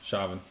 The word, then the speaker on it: Chauvin: Yeah, Chauvin.